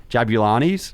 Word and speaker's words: Jabulani: and that was the jab I'm hope I pronounced this right jabulani yeah julani footballs and I don't know if you remember